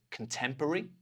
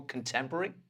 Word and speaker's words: contemporary: I think this would more often be pronounced as 'con-tem-puh-ree'. We take that 'ruh-ree' out and we change it to 'ree'. So, 'con-tem-puh-ree', but you can say whichever way you want.